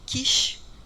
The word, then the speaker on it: CISH: ou o ouro eh pode haver uma distinção na pronúncia então é comum Você ouvi falar C referindo-se ao S de Silver das técnicas com prata e quish com as técnicas cromogênicas tá aqui a gente